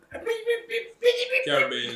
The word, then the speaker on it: Caribbean: Caribbean is the correct way Yeah, to pronounce it.